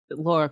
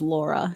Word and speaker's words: Lara: was 5, someone told me it was Laura, so I haven't changed the pronunciation since.